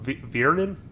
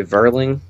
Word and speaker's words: Vierling: Vierling. Vierling. It's going to take me some time. Hopefully by week 16. Vierling. I suppose also you could say Verling. Verling. Kind of like Olivier Vernon.